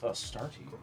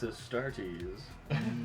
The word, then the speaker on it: Astartes: Yeah, pronounced Astartes. Astartes? Okay. Thank you. You're welcome. Fancy it up however you want. Studies. It's Astartes.